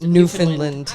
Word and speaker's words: Newfoundland: it's spelled Newfoundland, but it's pronounced Newfoundland.